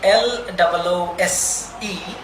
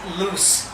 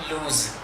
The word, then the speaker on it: loose: It is pronounced grease. Even the word L-O-O-S-E, that is loose, not lose.